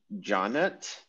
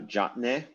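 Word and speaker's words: ḏꜥnt: then is wing dena in the egyptological pronunciation uh johnette is the city of tannis and you can actually see that the greek name of the place tanis comes from the egyptian name uh jotnay so yeah that's pretty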